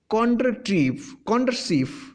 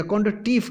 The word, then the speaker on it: Kondratieff: भी जाना जाता है, जिसे कॉन्ड्रसीफ या कॉन्ड्रटीफ के नाम से, स्पेलिंग इनकी है KONDRATIEFF। ये एक रशियन अर्थशास्त्री थे, रशियन इकोनॉमिस्ट थे, जिनका नाम कॉन्ड्रटीफ भी लिखा जाता है, कॉन्ड्रसीफ भी लिखा जाता है कहीं पर।